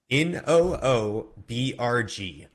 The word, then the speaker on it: Newburgh: Funnily enough, the pronunciation, actually, you're supposed to get rid of the U too. It's Noobrg. Newburgh.